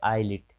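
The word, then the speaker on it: islet: तो आई और एल के बीच में एस रहे, यानी कि पहले आई फिर एस फिर एल रहे, यानी कि पहले आई फिर बाद में एल बीच में एस रहे तो एस साइलेंट हो जाता है। जैसे इसे पढ़ते आईलिट यानी छोटा सा टापू।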